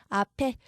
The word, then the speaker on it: 앞에: 자, 그럼 아베라고 안 하고 피읍이 그대로 살아서 움직여야겠죠? 앞에.